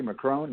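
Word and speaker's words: Macron: right so he's actually how do you say McCrone am I saying it correctly McCrone yeah my calm my cosmic Rania so he's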